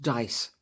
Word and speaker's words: DIIS: in Dorset has been the diis Dorset information and intelligence service pronounced dice which uses anonymized data